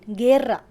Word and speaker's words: guerra: Just like in English, the U is not pronounced. For example, GUE as in guerra, guerra.